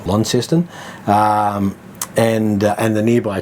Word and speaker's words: Launceston: saying it right but if you say Launceston you'll get corrected down there right it's Launceston um and and the